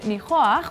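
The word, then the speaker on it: ניחוח: That's why today's word is nichoach, which is how you say fragrance in Hebrew.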